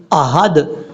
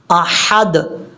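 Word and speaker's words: أَحَد: ہے۔ هو اللہ احد، اب حمزہ کے بعد جو ہا ہے یہ ہا بریک ہے، اگر آپ اس کو پڑھیں گے احد تو یہ بہت بڑی غلطی ہو جائے گی، آپ نے اس کو احد نہیں پڑھنا، احد، احد، یہ ہے اس کا پڑھنے کا طریقہ،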